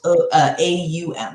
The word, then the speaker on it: Om: to that place its ohm which is just kind of the universal sound and ohm it's spelled om but a lot of times it's pronounced AUM so it's more like